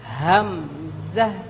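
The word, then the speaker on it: همزة: উচ্চারণ করছি এই জায়গা এখান থেকে হলকের একেবারে শুরু থেকে উচ্চারিত হবে আমরা সবাই আরেকবার বলছি হামজাহ হামজাহ আরেকবার বলুন হামজা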